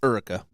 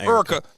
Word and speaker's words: Erica: It's Erica, not Erica.